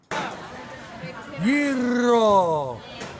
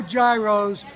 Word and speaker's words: gyro: There's no gyros in the Greek lexicon, or better known as the Greek dictionary. It's all ye, ro, you gotta roll your R's when you come here.